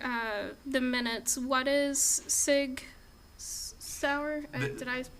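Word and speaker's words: Sig Sauer: so just for uh the minutes what is Sig sour did I pronounce that right yes you did actually that was uh Sig sour is a u International firearms company that has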